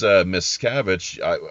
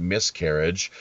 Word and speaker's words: Miscavige: Speaking of Scientology, the way that you pronounce the name, it was actually it's Miscavige. I heard you pronounce it Miscarriage, which to me makes total sense.